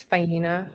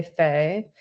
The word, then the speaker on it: Fina: Hello, my name is Fina. Um, I prefer to go by Fina, but if you can't pronounce it, you can say Fay.